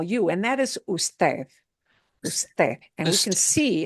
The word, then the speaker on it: usted: So if you see it listed as UD period, you still have to pronounce the whole word, usted.